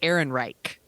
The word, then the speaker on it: Ehrenreich: I want to make sure I'm pronouncing it right. Ehrenreich.